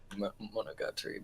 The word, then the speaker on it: Monogatari: Monogatari, but yes. Monogatari, whatever you want to say. everyone knows I'm shit at pronouncing these things, but that's That's all good.